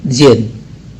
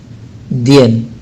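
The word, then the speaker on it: день: Selamat siang, bahasa Rusianya adalah dobre dzen, ya. Nah, situ dalam tulisan Rusianya itu ada tulisannya dien, ya, dien, tapi tidak diucapkan dien, tapi zien, zen, ya, zen, zen, maka menjadi dobre dzen, ya, dobre dzen.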